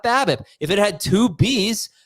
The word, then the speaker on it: BABIP: pronounce it babip but I actually think you pronounce the acronym the way the acronym is spelled as if the acronym is a word not based on the